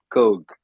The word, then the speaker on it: Cook: It's Coke. It's not Cook, all right.